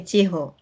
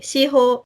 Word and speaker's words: Chiho: For example, in case of my name is Chiho, and Mm, I know in France, there is no pronunciation of H. mm, And in Africa also, mostly people cannot pronounce Chiho. mm. People say Shiho, Shio, or Chico.